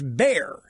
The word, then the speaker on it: Bexar: So Bexar is pronounced Bear.